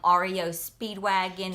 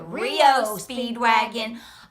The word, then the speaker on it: REO Speedwagon: I mean, pronouncing things wrong, from calling REO Speedwagon to Rio Speedwagon. I mean, you mess up, but I was listening. I called her and said, "That's REO Speedwagon."